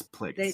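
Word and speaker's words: Plagueis: No, Who has ever said plagius. plagius? It's plagues.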